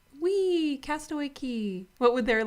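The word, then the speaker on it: Castaway Cay: key but coco k c-a-y is pronounced k because they call it the perfect day at cook okay like rhyme it's just like whatever rhymes i guess yeah whatever flows off the tongue because castaway k sounds bad castaway key sounds good what would it be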